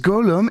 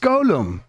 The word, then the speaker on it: Gollum: the Eagles have names it's not pronounced Golem it's pronounced Golem lads I don't blame